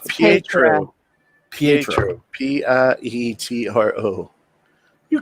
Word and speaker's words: Pietro: I swear to God, he said Pedro. I said a T because I had the word spelled in my name. It's Pietro. I got that, but I was mispronouncing it.